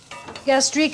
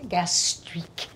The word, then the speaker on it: gastrique: add any more liquid gastrique is a snoody term but it kind of sounds like that flavor you gastri gastri it's sweet and vinegary gastri it's it works phonetically but don't use it